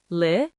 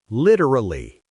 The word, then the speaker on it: literally: Instead of trying to say 4 long, difficult syllables, let us break it down into 3 short and easy sounds. Listen closely. Li-ter-lee. Li-ter-lee. Literally. Literally. See?